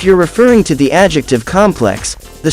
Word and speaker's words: complex: of the word hence complex but if you're referring to a structure or building the stress is on the first syllable of the word hence complex if you're referring